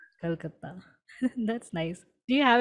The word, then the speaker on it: Kolkata: So it's Kolkata. Ha, Calcutta. Kolkata.